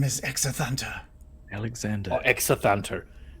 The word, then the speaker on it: Exathanter: Exanther, was it? My name is Exathanter.